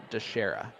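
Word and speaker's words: Dicharia: pick with nick dashera i can spell that out for you it's d-i-c-h-a-r-i-a d-shara um so you want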